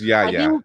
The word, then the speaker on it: Yahya: It's Yahya. I know it's Yahya. Yahya.